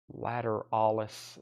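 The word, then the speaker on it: Lateralus: kiss unplugged $44.99 tool lateralis Paul pronounces it a little bit differently he says latter Alis I have Paul uh Doug I think Doug says it like I do lateralis but how does Paul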